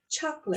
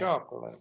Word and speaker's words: chocolate: Chocolate. Chocolate. Chocolate. Chocolate. S. Broccoli. Broccoli. Broccoli. Observe, people, in chocolate, we only have 2 syllables, not 3. We don't say chocolate. We say chocolate.